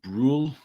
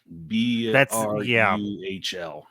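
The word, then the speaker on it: Brühl: I believe his name is pronounced Daniel Bruhl, B-R-U-H-L. And that sounds about Daniel Bruhl. That sounds about right.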